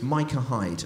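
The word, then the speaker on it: Micah Hyde: went oh the number 12 for Watford it's pronounced Michael Hyde's it's not meteor it's Mike and Hyde and I said well thank you very much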